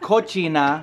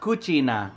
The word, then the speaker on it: cucina: Not cochina, but cucina. Cucina? Cucina? How do you say it? Kitchen in Italian. I think it's cucina. Cina? Isn't that like cochina? Like cochina, not cochina. C-U, not C-O.